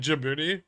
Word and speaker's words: Djibouti: It's Jimmy, like Djibouti, but with Jimmy.